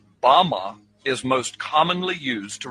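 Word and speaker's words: בָּמָה: The Hebrew word used in this text for the heights from which Satan fell is Strong's Hebrew word 1116, pronounced Bama. Bama is most commonly used to refer to a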